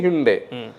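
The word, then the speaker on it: Hyundai: Seltos தான் first, அடுத்து ஹிண்டே. இப்போ ஹிண்டே எப்படி தெரியுமா சொல்லணும்? சண்டே மாதிரி ஹண்டே.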